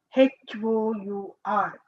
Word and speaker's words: hour: Then HOUR. R. H here we are not completely pronouncing. H is a silent.